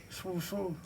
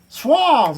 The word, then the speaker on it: Suave: Swerve Swooth. Swooth. How do you say that? Swooth. Suave. That's it. Suave.